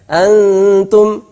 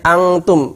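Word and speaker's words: أنتم: Ini bukan bacanya angtum, bukan banyak yang baca dengan ng, sehingga dia malah persiapan kaf. Harusnya persiapan ta, antum, bukan angtum.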